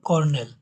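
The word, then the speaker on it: colonel: এটা একটি ব্যতিক্রম বানান, বানানোর সাথে উচ্চারণের মিল নেই। এটা আপনারা বানান মনে রাখবেন কোলোনেল হিসাবে, কোলোনেল, কিন্তু এটা উচ্চারণ হলো কর্নেল।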